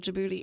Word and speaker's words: Djibouti: right of Ethiopia and Djibouti, which, fun fact, that's spelled with a D first. Yes, it is, and the capital of Djibouti is Djibouti.